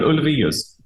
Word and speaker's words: Ulvaeus: E Björn, Ulvaeus, that one I'm not sure if I said it right. Björn. His name is Björn Ulvaeus. Oh, okay, that's so you way said better. it. Yes. Okay. Não sei pronunciar direito como vocês acabaram de presenciar, mas